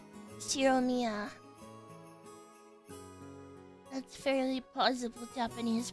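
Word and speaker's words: Ushiromiya: First part is my family name, Shiromiya. That's fairly plausible Japanese pronunciation so far.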